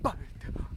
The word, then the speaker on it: Butte: This place is called Red "Butt" Garden. Yes, "butt". I'm just pronouncing it "butt" even though someone told me it is "BOUT".